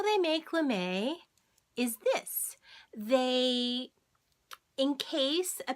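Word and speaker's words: lamé: example of a knit l'm a long e LM a okay so how they make lamay is this they encase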